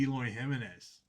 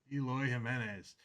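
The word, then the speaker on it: Eloy Jiménez: This next one's gonna be Eloy Gimenez. Eloy Jimenez 22 of 27.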